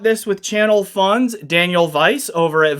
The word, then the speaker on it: Weiss: I bought this with channel funds Daniel Vice over at Vice Engineering and it is Vice Engineering. I confirmed this with the owner over there. The name we ss is pronounced as vice as in head n in a.